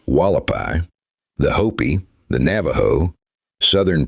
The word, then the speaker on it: Hualapai: These include the Havasupai, pronounced Havasupai, The Hualapai, pronounced Wallapai, the Hopi, the Navajo, Southern Paiute nations, and the Pueblo of Zuni.